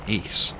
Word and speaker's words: ASE: Welcome to tutorial 13 asse pronounced ACE uh I'm led to believe.